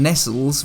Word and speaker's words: Nestlé: that horrible business aside the English pronunciation Nestles would have been due to Market preference of the era where there may have been a degree of mistrust of perceived foreign Foods anyway enough of that